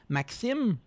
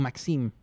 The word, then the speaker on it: Maxime: my name is, like my full name is difficult to pronounce, so I just say Max, because Maxime, the X is super hard to pronounce. Also, I will not really say my name with a French accent, because it's again Maxime or Maxime. it's hard for people to speak with the French, so I always adjust